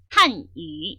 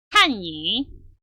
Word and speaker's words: 汉语: 그래서 한유 이렇게 해줘야 될 발음이 어떻게 되냐면 아니 이렇게 발음을 바꿔버리거든요. 이렇게 되면 전혀 의미가 달라집니다. 한유 타성을 해서 읽어주게 되면 중국어라는 표현이 되지만 반대로 한이 이렇게 읽어버리시면 여러분들 그 표현은 한국어라는 뜻이 되는 거예요.